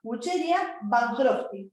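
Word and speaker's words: Wuchereria bancrofti: Se llama Wucheria bancrofti, ¿sí? Se escribe así, W-U-W, ¿sí? Che, D, Ia, ¿sí? Wucheria, ¿sí? Y con B larga, Van Crofty.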